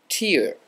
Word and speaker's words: tear: the letter I, and in phonetic spelling that letter I is pronounced E.